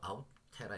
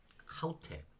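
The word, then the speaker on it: αὕτη: 이게 바로 아우테라 얘기하는 거죠. 이제 아우테를 하우테 왜? 제가 다시 말씀드릴게요. 아우테 아닙니다. 아우테 발음이 이가 아가 뭐란다고요? 거친 숙계를 위해서 하우테.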